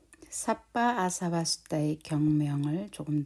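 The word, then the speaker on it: sabba: 삿바라고 했을 때에 삿바, 여기에 사 같은 경우에는 우리가 같은 발음으로 이렇게 한글로 사라고 발음을 하고요. 또 여기에 ba 바는 바라고 발음을 합니다.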